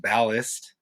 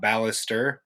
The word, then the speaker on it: ballast: wall by the way it is pronounced ballist not ballister uh just just helping